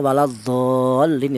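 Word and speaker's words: ولا الضالين: Kemudian huruf lamnya waladolin itu huruf lamnya bertasdid. Di mana itu ada perjumpaannya mad dengan huruf yang bertasdid itu dibaca nabr itu ada nabrnya. Jadi cara bacanya ditekan ya waladol.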